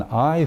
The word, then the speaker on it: high: By an high fate, the H is silent. So by an high fate, by an high